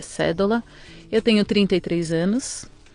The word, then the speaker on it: Sedola: nome é cédula não tem acento então todo mundo fala cedo aula mas é cédula eu tenho 33 anos